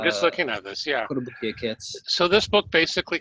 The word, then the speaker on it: Kotobukiya: So how do you want to pronounce this? Kotobukiya models? I'm sure Yeah. I'm slaughtering that. Yeah, Kotobukiya.